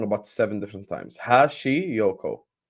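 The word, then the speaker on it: Hashioka: about seven different times Hashi Yoko hash like hash Yoko very simple Yes fake scores equal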